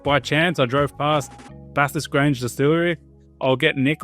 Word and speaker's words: Bathurst: I think it's pronounced Bathurst.